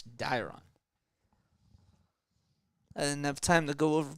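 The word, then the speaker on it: Dairon: or sorry Dave Ron Blanco dyrom Blanco it's diron enough time to go over pronunciations but I remember it's dyron is up now the time runs over at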